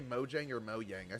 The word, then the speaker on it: Mojang: People at Mojang pronounce it Moyang. Oh, so they So it's if they pronounce it Mo Yang, then it's Moyang.